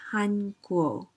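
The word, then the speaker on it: 韩国: the first row is the chinese character it's pronounced in chinese says han guo han guo han guo but in korean going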